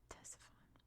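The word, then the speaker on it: Ctesiphon: Salucid Empire based on or Teson right that's how you pronounce that Tesson Baghdad right between all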